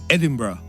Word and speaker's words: Edinburgh: Sí, debes pronunciar la R bien fuerte. En inglés el nombre para Edimburgo es Edinburgh, y así es como lo pronunciamos en Escocia.